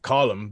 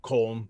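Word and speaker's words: Colm: it's column or driscoll it's not calm but rockstar rockstar and their infinite knowledge thought you know americans mispronounce foreign words all the time i think we're going to go with comb and i went okay fair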